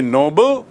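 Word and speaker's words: Nobel: ओ बी ई एल तो आपको स्पष्ट याद रखना चाहिए कि नोबल मतलब नेक नोबल मतलब उच्च श्रेणी का और नोबेल एक व्यक्ति का नाम जिसके नाम से पुरस्कार है।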